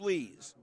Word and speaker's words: Lees: Lees' name is spelled like he doesn't tell the truth. Spelled lies, but it's pronounced Lees.